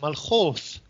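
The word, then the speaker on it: ܡܠܟܘܬܐ: for kingdom malachods well malakut in syriac is pronounced malhoth and using a sound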